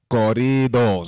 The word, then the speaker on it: corridos: But he's going to help me get in tune with banda, corridos.